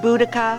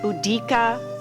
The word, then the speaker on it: Boudicca: variously pronounced buddika budika budia many different spellings what I'm going with